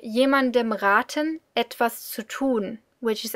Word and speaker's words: raten: Now, one short note on pronunciation: make sure that you pronounce the a long and not short, because then you would get raten, which is, it's not a verb.